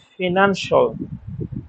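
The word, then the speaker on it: financial: আমরা শিয়াল করি এগুললা শিয়াল হবে না এগুলার উচ্চারণ সল ফিনান্সল এসেন্সল ক্রুশল এরকম এটা খুব কমন মিস্টেক আমাদের উচ্চারণত আমরা ফিনান্সিয়াল বলি, এসেনশিয়াল বলি, ক্রুশিয়াল বলি।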